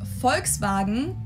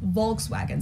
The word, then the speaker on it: Volkswagen: it would be pronounced Volkswagen and not Volkswagen so just imagine that it was spelled with an f and V Instead vagen